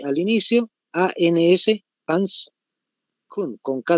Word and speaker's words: Kuhn: Con H al inicio, A-N-S, Hans Kuhn, con K de kilo, ¿no ve? Y tal como se escucha, Kuhn.